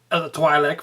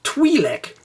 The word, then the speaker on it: Twi'lek: Wars, and saw that they actually pronounce it twi'lek. I always pronounce it twi'lek, but it's twi'lek apparently, so the rest of